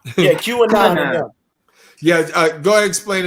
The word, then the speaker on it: QAnon: How you pronounce it? QAnon. Yeah, QAnon.